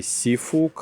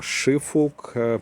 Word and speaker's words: Siófok: ми з вами знаходимось в місті сіфук або шифук по-різному вимовляється це найбільший курорт на